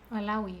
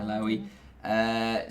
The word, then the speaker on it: Alaoui: This woman, Leila Alaoui, is that how you pronounce it? Alaoui. Yeah. Alaoui.